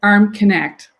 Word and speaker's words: Armknecht: It's Armknecht. Armknecht, ARMKNECHT, which is pronounced Arm Connect, like arm connected to your shoulder.